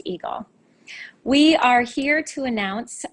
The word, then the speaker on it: EGLE: lakes and energy better known by its acronym pronounced eagle we are here to